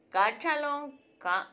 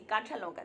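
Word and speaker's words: কাঁচা লঙ্কা: Entonces, Cancha Lonka, ya sé cómo pronunciar bien ahora sí, Cancha Lonka. Digo, porque lo antes lo decía sin la nasalización. Entonces era, para mí era cachalonca, pero no, es cachalonca.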